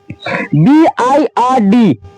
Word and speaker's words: bird: जैसे BIRD, कितने बहुत से लोग पढ़ते हैं इसको बीड पढ़ते हैं, लेकिन यह उच्चारण है इसका गलत है। इसको हम जो आई के बाद जब आर आता है तब हम इसको पढ़ते हैं अ।